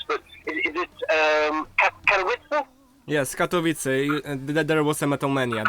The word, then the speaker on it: Katowice: And I'm going to pronounce the cities wrong, so I apologize. But is it Katowice? Yes, Katowice.